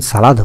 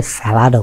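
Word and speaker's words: salad: অনেকে বসে বেভারেজও খান, সালাদও খান। সালাদের দুটো উচ্চারণ আছে, সালাদও বলে, স্যালাডও বলে।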